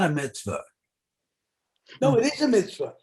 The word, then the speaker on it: mitzvah: The mitzvah, the word mitzvah in Hebrew is mitzvah. In Yiddish, it's mitzvah. I see. Which syllable is emphasized? Well, yes, and then it doesn't end with an ah, it ends with an eh in Yiddish.